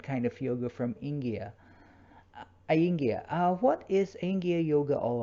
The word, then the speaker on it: Iyengar: Did I pronounce Nearly. correctly? Iyengar Iyengar. yoga. Iyengar yoga.